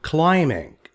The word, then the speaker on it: climbing: B is silent, rock climbing.